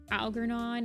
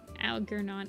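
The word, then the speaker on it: Algernon: I got Algarnon is pronounced with a J. I've been pronouncing it alernon.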